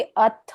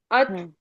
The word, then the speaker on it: अथ: दायकम ma'am अथ ma'am ये अथ को भी अथ पूरा पढ़ना है ना अथ अ और थ के उच्चारण पूर्ण होने चाहिए अत ऐसे हमको नहीं पढ़ सकते क्योंकि संस्कृत नियम है